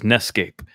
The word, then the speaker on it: NEScape: Advantage so this is ncape and it rhymes with Escape so oh the correct